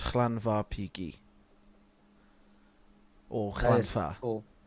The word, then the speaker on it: Llanfairpwllgwyngyll: Generally, it's pronounced Llanfairpwllgwyngyll or That is Llanfair.